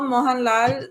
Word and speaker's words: Mohanlal: most which is this malalam why they call moan lal a complete actor.